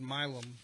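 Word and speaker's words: Milam: So she called it Milum. I I don't know how the right way is to pronounce it in San Antonio, but we call it Milm in Houston.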